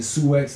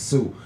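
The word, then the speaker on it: Sioux: older than me that said the Sue X Indians instead of the Sue Indians when the real pronunciation is Sue now again I asked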